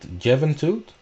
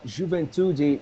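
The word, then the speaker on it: Juventude: how to pronounce it javen toot uh juventudi it's called it's um it's youth in in in english you know in portuguese is juventudi so and it is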